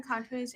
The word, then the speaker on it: Contois: Is it Contois? Is that my pronouncing that right? Yeah, Okay, Marilyn Contois.